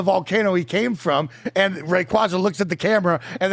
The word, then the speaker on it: Rayquaza: He learned that this is pronounced Rayquaza.